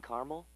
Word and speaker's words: caramel: The caramel, please. The what? I'd like it in caramel.